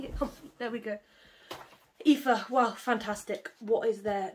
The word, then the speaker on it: Aoife: It's pronounced Aoife. I'm not comfortable. Let me get comfy. There we go. Aoife, wow, fantastic.